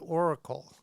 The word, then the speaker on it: Orykl: today's guest is Hu Sana the founder behind Oracle and I'm going to spell that for you it's o r y k